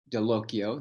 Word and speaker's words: Dallocchio: have done with Michelle delocio see I remember the pronunciation too it rhymes with Pinocchio and can you put